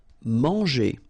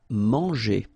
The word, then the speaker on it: manger: Manger. So remember here, nasal, an, en, man, and then when you combine this G and then E, or here ER, G, manger. Courir.